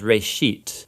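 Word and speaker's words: רֵאשִׁית: of it's called Genesis Genesis comes from a Hebrew word uh it's pronounced Ray sheet and it just means beginning now there's a lot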